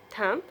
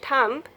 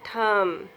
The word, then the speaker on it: thumb: So, do we pronounce the B? No, we do not pronounce the B, so we don't say thumb. No, we say thumb.